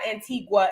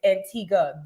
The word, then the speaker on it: Antigua: the man told me it's not Antigua it's Antiga the most beautiful chocolate